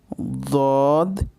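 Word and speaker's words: ض: সদ, দদ। দদের উচ্চারণ আপনার মুখের শুরুর দাঁতের সাইড থেকে উচ্চারিত হয়, দদ।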